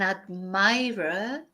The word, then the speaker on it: admirer: Yeah, an admirer in Spanish is el admirador, but in English it's admirer. So the pronunciation that's different.